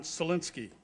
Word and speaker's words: Sininsky: Highway commissioner is uh John sininsky John very good pronunciation yeah know you got it perfect thank uh thank you